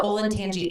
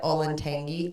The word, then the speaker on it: Olentangy: in Columbus, and they also went to the Olentangy Indian Caverns, which is a Is that how great you say that? Do you know place. that I've always said Olentangy? Oh, it's so wrong. Olentangy.